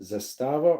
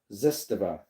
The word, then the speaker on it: Zastava: Do you know if it is pronounced Zastava or Zestava?